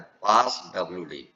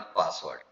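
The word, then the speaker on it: passwd: पास डब्ल्यू डी पी A double S spelling देखिएगा। पी A double S डब्ल्यू डी नॉट पासवर्ड पास डब्ल्यू डी।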